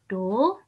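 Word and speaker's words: 土: Kemudian hari Sabtu, ini tanah. Bacanya Do.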